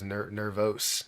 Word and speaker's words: Nervos: It was Nervos Network. Nervos. There's no U at the end of it.